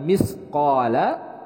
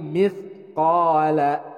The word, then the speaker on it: مِثْقَالَ: Nah, di sini huruf sa dibacanya bukan misqala tapi mithqala, huruf sa.